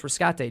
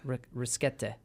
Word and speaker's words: Rescate: And it's Rescate, Gina. That's how you pronounce it. It's not Risquete.